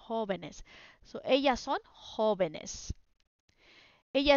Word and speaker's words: jóvenes: But when you make it plural, jóvenes as an accent. So no accent in the singular form, accent on the plural form, jóvenes.